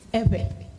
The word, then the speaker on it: Ewe: It is not Ewe, it is Ebe.